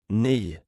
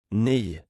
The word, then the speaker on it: ny: The letter Y is pronounced like the E in weak but with rounded lips. Have a go at saying the Swedish word for new. Ni. Ni.